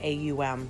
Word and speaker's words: Om: om is in its some people spell it aum so it's the ah oh um it's got three parts to it it's encompassing